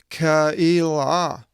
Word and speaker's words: Keilah: Now see, when it's a double dots, it's not E, it's not pronounced as normally with an E, epsilon iota, E, but it's E. Epsilon is and E is the iota. And so it's Keilah, and Ziv, and Marisah,